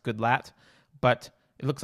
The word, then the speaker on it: Goodlatte: opened with Chairman his his name is spelled good latte but I think it's pronounced Goodlatte but it looks like